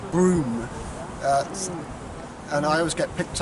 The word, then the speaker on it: Brougham: It's like a castle, but it's spelt Brougham, but it's actually Broom. And I always get picked up and getting the spelling, the pronunciations right, so it's Broom Hall.